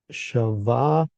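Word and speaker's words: שבע: So we click the little hyperlink, hyperlink button, and we come up to the root word, which is a sheen bait ayin, pronounced shavah.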